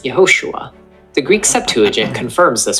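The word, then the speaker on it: יְהוֹשֻׁעַ: When this vowel appears at the beginning of words, it makes a short E sound, as in men, hence Yehoshua.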